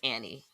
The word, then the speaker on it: Annie: I'm saying Anie, but it's Annie. Annie. It's spelled. It's written like Anie, though.